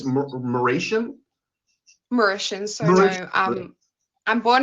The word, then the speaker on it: Mauritian: I'm sorry, how did you pronounce it? It's Mauritian? Mauritian.